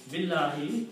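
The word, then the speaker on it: بالله: To make the speech easy, it's easy to say Billahi instead of saying two separate words, stopping after B and it's saying Allahu.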